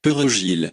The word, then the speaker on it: perejil: Both French and Haitian Creole speakers can have great difficulties with the alveolar tap or trill of the R in Spanish, pronouncing perejil.